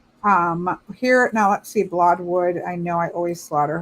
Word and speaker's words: Blodeuwedd: Blodeuwedd is how you say it.